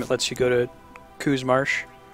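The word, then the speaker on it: Qu's Marsh: lets you go to Coos Marsh. Choose Marsh. In Romanized Mandarin, Q is pronounced CH, so I always want to say Chu.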